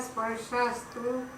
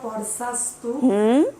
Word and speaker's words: स्पर्शास्तु: मात्रा परसास्तु परसास, इश, मात्रा परसास्तु स्पर्श, इश। यहाँ जहाँ भी श होगा वहाँ पर जैसे श्री बोलते हैं वैसे इश, स्पर्श।